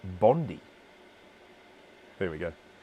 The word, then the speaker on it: Bondi: his little moment um it is pronounced bondi after the beach okay now we're going